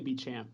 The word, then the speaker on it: Beechamp: and I abbreviate it because no one could spell that, so it's Bee. I just say Beechamp. Beechamp, yeah, that's like I said, no one could pronounce that, so Beechamp.